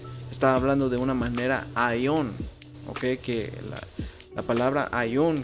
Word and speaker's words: Aion: Y Salakia no puse la pronunciación, pero vamos a escucharla para ver. Strong's G165, Ion. Ok, so Aion.